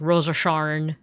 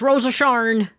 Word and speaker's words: Rose of Sharon: And uh I remember there was like a character named Rose of Sharon, but like they would always pronounce her name as like Rosa Shar. It's Rosa Sharn.